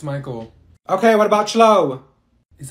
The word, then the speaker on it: Michael: her you mean Beatrice thank you Mikhail ma'am it's Michael okay what about slow